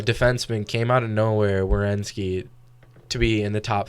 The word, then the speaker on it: Werenski: Werenski.